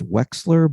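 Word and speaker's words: Wechsler: Facebook and and my last name is is Wexler but it's spelled and uh you can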